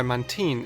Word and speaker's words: Mantine: For example, the reason why Mantine is pronounced the way it is instead of how it's spelled being Mantine, is because the name is a mix of Manta and Marine, Bulipedia lists every Pokémon's name's origins.